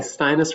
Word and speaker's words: Steines: I say it it's steinis but I'm probably wrong the only person who said it right without correction so Rhymes withus okay stinus rhymes with highness so hi Margo um